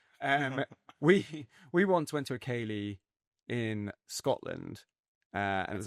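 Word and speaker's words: ceilidh: So you pronounce it Kaylee? Kaylee. Kaylee. I pronounce it how it's pronounced, yeah.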